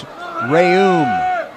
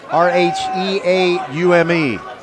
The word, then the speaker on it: Rheaume: I got the pronunciation from the coaching staff at Strake. It is James Rayum, Rheaume.